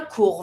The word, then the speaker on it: court: Le chien court vite. Don't pronounce the T from court.